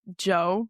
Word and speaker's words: Djo: Joe is his name. DJ O is how it's spelled.